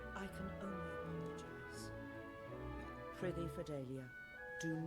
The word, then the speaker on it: Fidelia: Fidelia, my dear. I always say her name wrong. It's Fidelia.